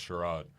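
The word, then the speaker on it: Tshyrad: r a d so the t is silent and that's shro my middle name is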